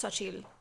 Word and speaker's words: Xochitl: So it's Xochitl Gonzalez, who has another book out that I want to read.